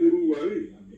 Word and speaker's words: Uruguay: Lo mismo ocurre con Uruguay, que es Uruguay.